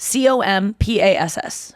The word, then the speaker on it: compass: c-o-m-p-a-s-s wait what's that c-o-m-p-a-s-s how do you say it c-o-compass yeah people say compass but to me i was like it's not c-u-m it's compass oh or i thought